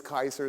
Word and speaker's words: Caesar: there was no wha so when Gaius Julius Kaiser said veni vidi vici he didn't say that